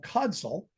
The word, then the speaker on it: Codsall: It's located in the village of Codsall. Am I pronouncing that right? Is it Codsall?